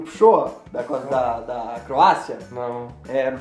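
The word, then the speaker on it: Pršo: Ele mesmo inventa a pronúncia do... Lembra o Pshoa?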